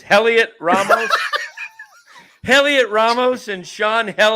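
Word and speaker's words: Heliot: No, H is just silent. Oh, the It's H kind is of like silent. Okay. kind of like you like those H's. Helliot Ramos, Helliot Ramos, and Sean Jelly.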